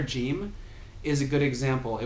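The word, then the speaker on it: جيم: letters, but the letter Jim is a good example. It would be pronounced with like a j sound in the Levantine area, like Lebanon, Palestine, Syria, these places, and then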